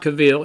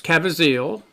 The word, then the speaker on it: Caviezel: It's not Cavill. It's Caviezel. Thank you, Miller.